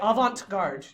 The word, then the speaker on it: avant-garde: So I'm going to make you say avant-garde.